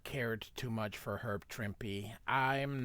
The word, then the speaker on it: Trimpe: So, Herb Trimpe, I call him Trimpe because the E is silent in English.